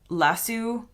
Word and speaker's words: lasso: Apparently, in the UK, the word lasso is pronounced lasso. I don't know where the inflection goes, whether it's LASU or lasso, but it ends in an oo sound.